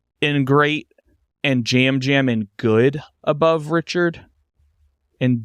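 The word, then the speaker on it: Yam Yam: D season 45, and we'll put Jam Jam in good above Richard. I always have to remember that Jam Jam is spelled with Y's. It's spelled Yam I Yam.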